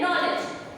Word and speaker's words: know: आई नो यानी कि मैं जानता हूँ, और उसका स्पेल होता है KNOW, लेकिन ये जो है वो साइलेंट हो गया, सिर्फ हम नो ही बोलते हैं, राइट?